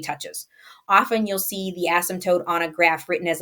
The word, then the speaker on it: asymptote: say it's called an asymptote the P is silent it's on asymptotes it's an asymptote an